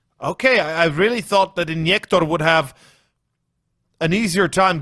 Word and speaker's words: Injektor: injector injector injector i i'm like missing these pronunciations because you know i want to do it in slovenian but i know that's not right because we're doing it in english so might as well said injector funnily enough i you